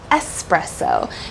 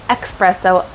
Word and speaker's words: espresso: espresso versus espresso so notice how in the correct way we say espresso because there is no X when you see the word it is espresso but for whatever reason over time people tend to say espresso all the time I don't know why